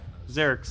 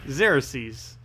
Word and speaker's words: Xerxes: his name's Eric C's Oh has it been Xerxes this is entire time that actually does sound correct Zarek's YZ is that correct or did I make a new invented a new way of mispronouncing it zero C's that sounds very much correct I didn't realize that was what people were actually trying to get me to pronounce Oh go take the